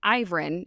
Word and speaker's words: Ivrin: But honestly, I think it's a typo because everywhere else it's pronounced Ivrin, and it's spelled Ivrin, or the pools of Ivrin.